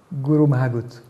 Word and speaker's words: Go raibh maith agat: Et vous me permettez une dernière chose, excusez la prononciation, Guru Mahagut.